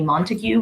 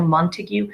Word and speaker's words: Montague: are the Montagues a Montague Romeo Montague so the the mispronunciation we see a lot with heaviness Montague let's say it's a Montague but it's Montague that last syllable there's like you next one is Benvolio